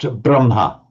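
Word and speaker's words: ब्रह्म: example We have um we write brahma with the h first. Okay, that that's normal. We'll we'll all all know that word. But you routinely hear it pronounced braha. Yes, that's routine. Um and that's kind of accepted. It's slightly odd because it's written as HM and even in the Dave and I agree split written as HM but pronounced as MH.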